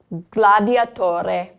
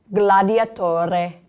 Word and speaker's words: gladiatore: throat, but you are going to pronounce that G. Allora, gladiatore, gladiatore.